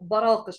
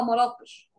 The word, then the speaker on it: براقش: التعبير والفصح تمام تمام احنا بننطق دي غلط جنت على اهلها او على اهلها جنت براقش احنا دايما بنقولها مراقش انا لسه كنت هسال